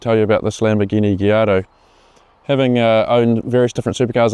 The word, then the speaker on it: Gallardo: When you see the name of this car, it's easy to think it's pronounced Gallardo due to the L, but in Italian the double L is actually pronounced as a Y, so the correct pronunciation is a Gallardo.